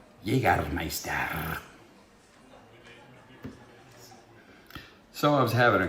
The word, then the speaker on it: Jägermeister: Actually, it's pronounced Jägermeister.